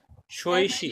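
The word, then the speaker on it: 学习: उसकी स्पेलिंग क्या है भला? शोइशी, XUE XUEXI, शोइशी इसका मतलब है टू लर्न, टू स्टडी।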